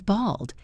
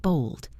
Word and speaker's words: bald: If a man has no hair, we say he is bald. Be careful with the pronunciation. B A L D. Bald, not bold.